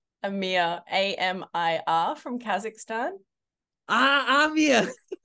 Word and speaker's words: Amir: b boys oh in no particular order um Amir I'm sorry Amir who who is Amir Amia you prob it's probably my Australian accent Amia a m i r from Kazakhstan ah I'm it's my Australian I'm